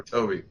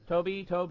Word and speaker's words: Tobe: I was always confused about how you say his name. Is it Tobe or Toby? Tobe Hooper, the genius behind the